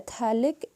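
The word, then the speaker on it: phthalic: इस डी thailik acid और तलक एसिड में पेट साइलेंट होता है उसको नहीं पढ़ते हम टी ह से स्टार्ट करते हैं thalic एसिड दिस इस डायलॉग एसिड तो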